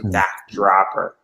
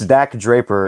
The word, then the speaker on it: Dak Draper: stuff in ring of honor and then also knock dropper or draper i don't know exactly how to pronounce his name per person it's dak draper and i'll also just uh also correct you